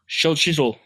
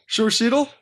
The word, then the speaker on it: Xochitl: Xochitl. Xochitl? Xochitl. Xochitl? They actually pronounce like show.